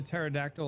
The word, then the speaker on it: pterodactyl: couldn't you hear the pterodactyl in the bathroom because the P is silent yes Wow Lunas the